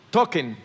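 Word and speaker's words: Tolkien: Token es así que se pronuncia, profesor en inglés sabe, no vaya cosa que yo lo estoy diciendo aquí en CBA token.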